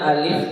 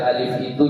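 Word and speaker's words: ألف: Banyak yang membaca alif itu dengan memanjangkan a-nya. Wa bidukhulil alif wal lam, salah. Bacaan itu salah. Ya, jadi alif tidak ada panjang di situ. Jadi bacanya wa bidukhulil alifi wal lam. Jadi jangan lagi alifi. Enggak boleh. Bacanya pendek saja.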